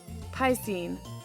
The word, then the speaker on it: piscine: Piscine. It's pronounced piscine, but I think they meant it to be a piss joke.